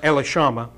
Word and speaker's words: Elishama: took it out of elishama or elash Elish the scribes chamber I've heard pronounced elishama and jeudi read it